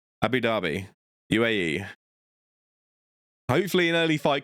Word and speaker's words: Abu Dhabi: And that is in Abu Dubai. I pronounced that so wrong. Abu Dhabi UAE hopefully an early fight card for the UK fans.